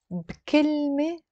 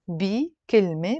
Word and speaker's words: بكلمة: But a lot of times that B with a كسرة, when we're speaking, we pronounce it with a سكون. And it becomes بكلمة. بكلمة. بكلمة means with one word. كلمة, بي كلمة, but I'm pronouncing it بكلمة.